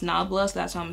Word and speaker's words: Nabla: Y'all said it's pronounced Nabla, so that's what I'm gonna say.